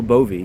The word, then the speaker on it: Bove: President Trump's lawyer, Emil Bovey, that's how it's pronounced, had obviously done a lot of research into Mr.